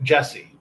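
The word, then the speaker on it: Jussie: I think it's just Jesse. Is it just Jesse? Just because the spelling is different. Is if I'm not mistaken. It's spelled juicy. Yeah. So it's just Jesse.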